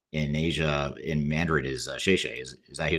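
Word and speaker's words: 谢谢: from my time in asia in mandarin is shayshe is that you say thank you yeah yeah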